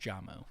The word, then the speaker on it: J-Mo: It's pronounced Jamo.